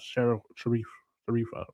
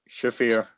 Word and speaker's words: Shafir: Timeless Tony Storm or Marina Sharifa? Shafir.